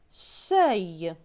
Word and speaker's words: seuil: S avec E-U-I-L. E-U-I-L se prononce œil. Donc S et œil, seuil.